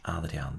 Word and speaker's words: Adriaan: Adriaan de Groot is the correct pronunciation.